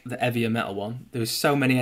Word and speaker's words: 'Eavier Metal: It's eavier metal. Like heavier without the H.